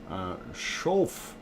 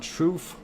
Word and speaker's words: Schoof: And long O sound. Schof. So it would be Linda Schof. Is that right? Not Schoof.